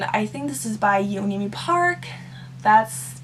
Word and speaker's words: Yeonmi Park: to Live, and I think this is by Yeonmi Park. That's how you pronounce her name.